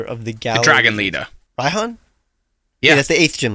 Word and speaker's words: Raihan: the galaxy dragon leader raihan yeah that's the eighth gym leader ryhan oh sorry he's eighth ryhan ryan you pronounce the right hand probably because you're british maybe i don't know